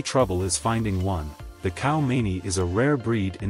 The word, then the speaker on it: Khao Manee: The pure white khaomanee, pronounced khaomanee, is also known as the diamond eye cat